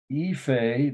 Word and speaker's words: Ife: Ife, that's how you pronounce it, capital I-F-E, head of a king.